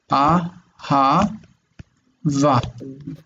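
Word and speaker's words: אהבה: Aha. Va. Ahava means love. Okay, so it's you break the syllable here. Okay, ah, aha, va.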